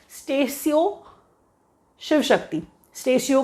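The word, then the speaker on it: Statio: Latin word है स्टेशियो, दैट इज़ हाउ we pronounce it. कुछ लोग तो स्टेशो पढ़ लेते हैं, जो पढ़ना पढ़िए, कोई प्रॉब्लम नहीं है, प्रोनाउंसिएशन कोई चेक नहीं कर रहा आपका।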